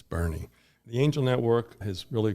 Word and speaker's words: Boerne: and they can pronounce Bernie then we've done our job correct you don't want to say Bo ear which I've heard many times I'm like no it's not Bo ear it's Bernie The Angel Network has